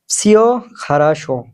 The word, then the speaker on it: Всё хорошо: Всё хорошо, всё хорошо ১ম এ যে ভি শব্দটা আছে এটার উচ্চারণ এফ এর মতো হবে কিছুটা। Всё хорошо উচ্চারণটা হবে ডাইরেক্ট সিও হবে না, উচ্চারণটা হবে всё хорошо, всё хорошо মানে সব ঠিক আছে।